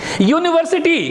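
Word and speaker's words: university: यूनिवर्सिटी, यू अंतस्य यू यू यू है ना, यूनिवर्सिटी, इसलिए क्या लगा ए।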